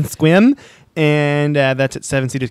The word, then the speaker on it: Sequim: Casino in Sequim Washington it's spelled s-e-q-u-i-m don't struggle with Google like I did okay that's how it's spelled I'm gonna be in squim and that's at seven